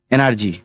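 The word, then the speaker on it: energy: জি এর পাশে বয় আছে তাহলে জি এর উচ্চারণটা বর্গী জ এর মত হলো তারপরে এনার্জি যে জি এর পাশে বয় আছে তাই এই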